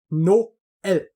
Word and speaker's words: Noël: But if you have a word like Noël, meaning Christmas, then there's 2 dots over the E because it's Noël. There's separation between.